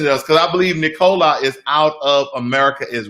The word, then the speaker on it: Nikola: of nikola tesla so i call it nikola but it's nicola okay so formal words anyway